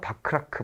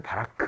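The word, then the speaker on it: Bachrach: 바크라크, 바라크 뭐 이렇게도 불러요.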